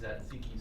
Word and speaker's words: tzatziki: How's that tzatziki sauce? That's really good. That's really, really good. I'll let you pronounce it.